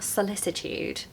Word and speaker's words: solicitude: that are probably more common than anything like solicitude so you'll see here in the middle of